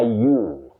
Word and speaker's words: ewe: of the female sheep, what you say is a ewe ewe, not an ewe, not an ewe and all that. You say a ewe, just like the second personal pronoun, you you.